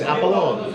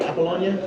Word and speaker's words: Apollonia: heading over to fear we're going there because appalon did I say right Apollonia yeah we're going there if it's good we'll